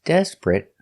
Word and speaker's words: desperate: T desperate desperate desperate two syllables the stress is on the first syllable desperate not three syllables desperate but two syllables desperate and the T at the end is a stop T desperate not desperate but desperate